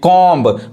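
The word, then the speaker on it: comb: है नहीं पढ़ाए सैंडविच यहां देखिए कॉम बी साइलेंट है बी नहीं पढ़ाए यहां देखिए सोट पढ़ेंगे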